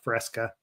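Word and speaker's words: FRSCA: It's pronounced Fresca.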